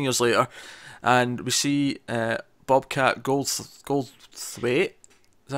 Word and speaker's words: Goldthwait: It cuts 15 years later, and we see Bobcat Goldthwait. Is that how you pronounce his name?